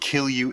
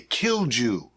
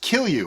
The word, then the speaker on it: kilju: Now, if you're wondering what Kill You is, that's the correct pronunciation. A lot of people might say Kilju. Okay, it's K-I-L-J-U, as you can see right here, but it's actually pronounced Kill You, which is kind of